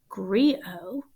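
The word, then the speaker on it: griot: professional storyteller called a oh i need the pronunciation key here grio oh you don't say the tate called agrio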